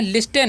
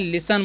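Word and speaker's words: listen: एस टी ई एन तो इसे हम लोग क्या पढ़ते हैं लिस्टन नहीं यहां पर टी साइलेंट होता है इसे हम लोग क्या पढ़ते हैं लिसन पढ़ते हैं लिसन मतलब क्या होता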